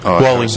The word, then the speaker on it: Wally: And also for the Wally Park, I think I said it right, Wally, or is it Halsey? Wally, that's right.